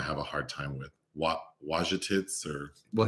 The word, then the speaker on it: Wojtowicz: Wojtowicz or? Well, he doesn't pronounce the J, I noticed. Well, oh, okay. So the real guy. Wojtowicz.